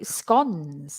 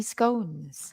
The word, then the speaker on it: scone: well uhuh and then we get to scon or do you say scones I say scones it doesn't matter scon or scones you say scon I